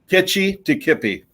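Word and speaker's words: Kitchitikipi: I don't know the how to pronounce that Indian name, so I'm not even going to try. But Itchikipi? Kitchi-Tikippi.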